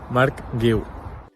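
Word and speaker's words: Marc Guiu: Mark Gil.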